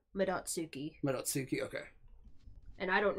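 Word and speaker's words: Madotsuki: Probably Midotsuke. It's probably how it's Well, pronounced. No, we looked it up, and it is Midotsuki.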